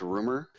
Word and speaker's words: RMR: His moniker is RMR, but it's supposed to be pronounced rumor.